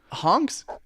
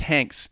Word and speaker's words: Hanks: John boyega and this this upcoming honks hey I'm getting information from my producer right now it's pronounced Hanks so amazed a young